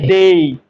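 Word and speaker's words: day: ভালো ছিল সর্বপ্রথম কথা এই ডে উচ্চারণটাই ডে নয় এটা হবে ডেই কি হবে ডেই ডেই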